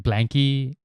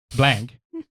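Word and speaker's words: Blanke: Because like Blanky, or Blank. Do you say Blank or It's Blanky?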